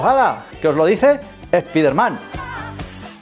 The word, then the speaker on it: Spider-Man: Se dice Spider-Man, con acento en la A.